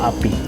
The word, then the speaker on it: APPI: How I pronounce it is APPI or API? Oh, API. Okay, API.